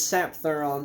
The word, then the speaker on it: Sapthuran: say that anyway Hill hild the gasel it's sap thuron this is black metal this is a bestial